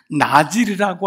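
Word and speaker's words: נזיר: 나실인이란 단어는 나지르라고 하는 발음을 나지르를 한글 음역으로 한 거예요.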